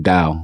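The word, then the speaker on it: Tao: that um called the is it TA or da it's more of a d pronunciation da the da of Health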